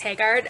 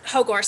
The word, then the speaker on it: Haagaard: Anyway, I am Haagaard, or Haagaard, sorry. I've actually started going back to the original. I started going back to the original Scandinavian pronunciation rather than the anglicized version, but I also have a very embedded habit of using the anglicized pronunciation.